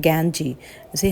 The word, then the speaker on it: Ganges: तो आई बाथ्ड इन द गंगा नदी में वो उन्होंने नहाया, और जिससे कि इसका प्रोनाउंसिएशन होता है गैंजी, जिसे हम गैंजी कहते हैं, GANGES, गैंजीज।